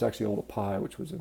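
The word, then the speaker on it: Oldupai: a lot of people call it sort of Olduvai but it's actually all the pie which was a mispronunciation of the way it's written you know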